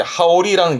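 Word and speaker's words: 羽織: 보통 기모노 위에 이렇게 걸쳐 입다라는 걸 하오르, 자켓도 하오르, 자켓을 걸쳐 입거나 그 걸쳐 입다를 하오르 하면서 요렇게 된 발음은 하오르에서 이제 하오리라는 명사가 나오면서 기모노 위에 걸쳐 입는 이 겉옷을 하오리라는 표현을 씁니다.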